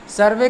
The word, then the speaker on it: serve: यहाँ पर ये हिंदी में जो सर्वे लिखा है, इसको सर्वे ना करके सर्व इसका उच्चारण पढ़ेंगे, ठीक है ना।